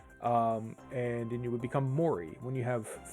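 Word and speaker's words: 森: So you get from, the character moto, but also be pronounced like ki. And then you would become mori when you have 3 of them.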